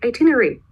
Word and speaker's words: itinerary: point is this part we don't read it is just itinerary that's it why well because it's actually too long to pronounce II kind of long and people you know they try to make everything easier so we just skip out this part we say itinery that's it kind of probably